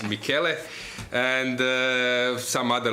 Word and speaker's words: Michele: experienced player Italians, like Michele Godena, or how they say sometimes, like now in Vrnjačka Banja, sometimes they are getting a wrong pronunciation, like Michel or Michael, but he's Michele.